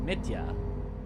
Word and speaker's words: Mitya: You have this name, Mitya, which actually isn't pronounced like Mitch, but like Mitya. Mitya. Nice. I got it right on the first, well, right enough on the first try, accidentally. Yeah, not Mitchja.